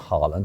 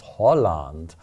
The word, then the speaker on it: Haaland: It's not Haaland, it's Holland. That's how you're supposed to pronounce it.